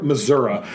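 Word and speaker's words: Missouri: this town was called Stover Missoura and there's like that's how they say it that's sh you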